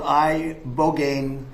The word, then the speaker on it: ibogaine: Study from Stanford University, 30 special operation veterans with traumatic brain injuries underwent, it's called ibogaine treatment. Ibogaine. Remember the name. Is that pronounced relatively properly, would you say?